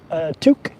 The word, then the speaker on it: toque: Toque? Ooh. Yeah, it's a beautiful day here. I mean, it's a little chilly because of the wind, but it's beautiful. It's beautiful here. Let's see. Toque is a French word, but also used in English.